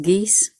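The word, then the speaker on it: geis: potency of fate um it's sometimes pronounced geese as well and it's akin to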